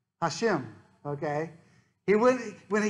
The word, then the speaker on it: Hashem: doesn't pronounce the name he will pronounce it as hashem which means the name hashem okay he would when